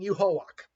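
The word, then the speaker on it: Yhwach: the ability of both the Soul King and Yuhawak, as he's pronounced.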